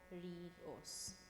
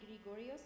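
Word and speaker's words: Ⲅⲣⲏⲅⲟⲣⲓⲟⲥ: They're both pronounced as a gh sound. Grigorios. Grigorios. Okay, so Gregory or Gregorios. Last. It's not going to be Gregorios because in the rules we have it's a gh sound when.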